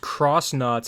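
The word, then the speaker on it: X-Nauts: That's why I've, you know, when I find out that, oh, they're supposed to be pronounced cross knots, I'm like, no, that ain't happening.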